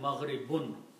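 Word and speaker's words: مغرب: So the word is mashriqun and maghribun. Okay? And we know these words, mashriqun means east, and maghribun means west. Maghribun, the original words are mashriqun and maghribun. If we stop, we pronounce them mashriq, maghrib.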